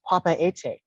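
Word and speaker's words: Papeete: the king of tahiti the actual pronunciation of its name is papa etay and it made its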